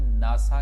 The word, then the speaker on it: NASA: नहीं, आपने याद ये रखना है कि इन्हें हम इकट्ठा बोलते हैं, नासा। ना शुरू में आवाज़ आ रही है, शुरू में आवाज़ ना आ रही है, और ना के स्पेलिंग किससे बनेंगे, NA से, और N क्या है, कॉन्सोनेंट है, तो आप नासा बोलेंगे।